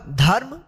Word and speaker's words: धर्म: रेफ है, तो इस रेफ का उच्चारण इस ध के बाद करेंगे आधा र, ये होगा धर्म।